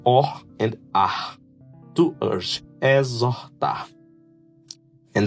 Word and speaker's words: exhortar: And exhortar, that's urge, is to admonish. Urge, exhortar. Look the R here, gives sounds to or and ah. To urge, exhortar.